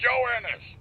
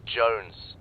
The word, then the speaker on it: Jones: him for you private Jonas Jonas Jonas why hell are you sir for the millionth time my name is pronounced Jones Jones shut up join us